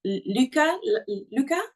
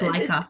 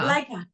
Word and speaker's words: Leica: And the story how you met Luca, is that, do I say it right? I think it's Leica, because her just name is Angelica, Leica. but her name is Leica.